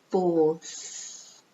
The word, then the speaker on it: fourth: I know in some languages it's difficult, but it's fourth. You don't really pronounce the R.